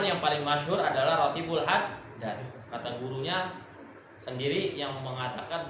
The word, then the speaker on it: Haddad: Oke, kalau di pondok-pondok itu dibacanya rotibul haddad. Kalau majlis-majlis kebanyakan bacanya rotibul atos.